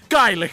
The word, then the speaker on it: Gaelic: And of course, Gaelic maths! No one cares about your garlic math, you piece of shit! It's pronounced Gaelic, you unprecedented piece garlic of shite.